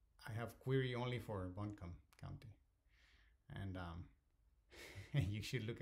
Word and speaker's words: Buncombe: and I and I have a lot of temptation to call it boon combi because that's how I would pronounce that read it in Spanish so sorry if I'm not pronouncing it correctly I think it's like Buncombe County okay so let's query